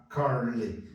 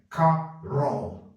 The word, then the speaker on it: Carol: também nome de homem Carol car Carl não vai falar Car nem carle é Carol Carol tem que entrar um chuá aqui ó Carl Ok e